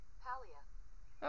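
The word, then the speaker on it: Palia: on my switch um I don't know if it's called Pia or Pia or however you pronounce it p a l i a but that's the game I've been playing see if Google says Pia okay so Pia I had it right so it's a fun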